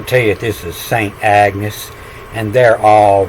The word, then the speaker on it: Agnes: name for 400 years it's medieval pronunciation was Annie like I tell you a g following a a reads the n and this is how